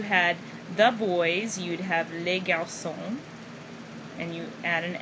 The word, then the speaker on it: les garçons: And once again you have an S, but the S on the end of the noun here is not pronounced, nor is the S here. You don't pronounce any of those. You don't hear them.